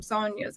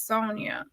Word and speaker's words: Sonya: in noticed in already pronouncing her name as Sonia um which is sometimes like you know the Latin kind of Hispanic you know way and then there's the other way of Sonia so um you know